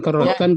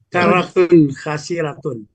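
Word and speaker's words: كَرَّةٌ خَاسِرَةٌ: Ada ini tadi bukan karotkan, Pak. iniatun daniratun gitu dibacanya tadi karatun khasiratun i makasih pak silakan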